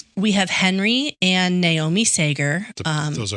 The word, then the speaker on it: Sager: We are going to talk about the Sager family. Sager. C A G E R. Sager. Sager. Mhm. Seager.